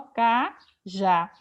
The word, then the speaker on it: cajá: E aqui cajá tem o acento agudo no A, porque é uma palavra oxítona terminada em A. Eu não vou dizer que cajá é monossílabo, porque cajá tem duas sílabas, ó, cajá.